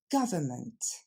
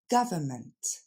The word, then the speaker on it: government: va le décomposer ensemble l'accent tombe sur la première syllabe g ensuite c'est le son FA et enfin mat je vous ai mis le N mais finalement on l'entend pas vraiment on entend plus le mat on l'entendra peut-être juste